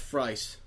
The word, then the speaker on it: Fries: It's Freeze. Is that what they said? It is Freeze. Yeah, it's Nora Freeze. But it's not said like we. I don't think it's spelled FR. It's spelled Fries. But in this, it's Freeze.